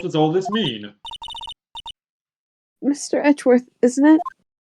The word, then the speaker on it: Edgeworth: Edgeworth, isn't it? It's actually pronounced Eggworth. The D is silent.